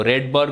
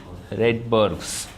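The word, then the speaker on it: Rydberg: ये आ मान लो रेड बर्ग कांस्टेंट के नाम से जानते हैं ठीक है क्या कहते हैं इसको रेड बर्गस ठीक है डी वैसे साइलेंट होता है इसकी वैल्यू याद रखिएगा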